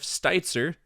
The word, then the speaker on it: Steitzer: luxury of sitting down and talking to Jeff Stitzer pronounced it right this time that time mhm awesome